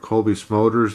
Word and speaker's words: Cobie Smulders: of autographed a it's an autographed picture of Cobie Smulders that I play that's how her name's pronounced that I got at a event I